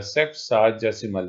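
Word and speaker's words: sexagesimal: इसमें हमें ये जो इसकी प्रोनाउंसिएशन है वो ये है सेक्साजेसिमल, इसको कहते हैं सिस्टम।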